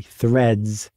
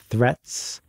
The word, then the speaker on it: threads: so just to I I'm annunciating it slightly differently threads not threats there are threads in